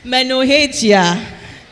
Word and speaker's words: menorrhagia: What do I say? Hey, this is a science class. Menorrhagia. So it's spelled Menorrhagia. Menorrhagia.